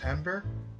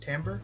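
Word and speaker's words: timbre: bolster my voice second pronunciation was correct tber tamber yeah I don't know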